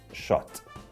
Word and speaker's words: Szot: is Paulo Paulo and the last name is polish it should be pronounced as shot Paulo shot that's me